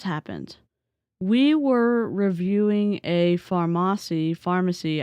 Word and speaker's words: Farmasi: we were reviewing a pharmacy Pharmacy I think it's pronounced Pharmacy I I keep saying Pharmacy so if I switch between both I'm talking about the same company they're a makeup multi-level